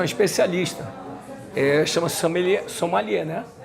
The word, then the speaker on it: sommelier: É o nome francês? Pelo menos a pronúncia francesa.